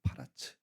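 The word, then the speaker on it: פרץ: 여러분이 베레스라는 이름의 뜻이 뭘까요? 혹시 주석 달려 있는 분들 있습니까? 베레스 원래 히브리어 정확한 발음은 파라츠입니다. 파라츠 깨뜨리다.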